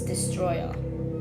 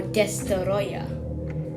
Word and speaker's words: Destoroyah: if your name is destroyed or destoroyah which is its proper pronunciation so basically all that